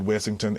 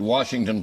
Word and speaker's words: Wessyngton: And your family pronounced it Washington Plantation, but it was Wessyngton It's called Plantation.